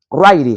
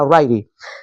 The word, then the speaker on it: Ryrie: Otro autor llamado Charles Ryrie, aunque se escribe Rirrie, pero es Ryrie, se pronuncia Ryrie.